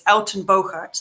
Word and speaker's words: Uittenbogaard: And the trick is the UI in Dutch is pronounced Au. So it's Uittenbogaard, that's my name.